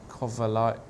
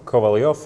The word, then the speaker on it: Kovalyov: Mickey Adams playing against Anton Kovalyov. Can you pronounce that? Oh no, Kovalyov, I would say.